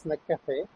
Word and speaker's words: Snacafe: what is your Cafe name how is it pronounced it's snack Cafe okay so SN Cafe man SN is nothing